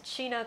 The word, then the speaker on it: China: English on the box, it really does look like it says Chinagguy, but her name is China Kosaka, so you just got to remember that. right. And if you speaking of that kind of pronunciation, I'm from California, and one of the cities I grew up close to was a city called Chino, which has the same type of pronunciation.